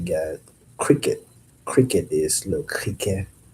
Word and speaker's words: criquet: Cricket is le criquet. Spelled the same, but the e t is like not even in there. Le criquet. Criquet, that is cricket.